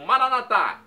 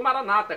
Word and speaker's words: Maranata: e agora do aramaico Eu Clamo maranat como dizemos noss católicos ou Maranata como dizem nossos irmãos separados os evangélicos ou protestantes não importa pronúncia significado é o mesmo Vem Senhor Jesus vinde